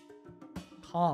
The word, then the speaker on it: calm: like it's like saying you don't pronounce the L in calm calm I mean you do